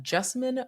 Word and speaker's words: Jessamine: As you may know, I tend to tell people that Jessamine rhymes with specimen, but with a J.